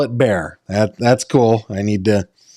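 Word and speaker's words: Bexar: It's pronounced bear.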